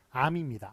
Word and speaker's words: 앎: 바랍니까 우리의 어민 그 우리의 저격 받침이 있을 때 둘중에 하나로 만 발음을 해야 되요 그래서 이거는 이음 이음 은 뒤에 걸로 발음합니다 해서 암이라고 잘 미라 그렇게 발음 했습니다만 예고하는 사실 틀린 발음 이구요 둘중에 하나 로마 발음해야 됩니다 1 미움은 죄의 컬로 발음 하니까 암입니다 암 예 그런 식으로 예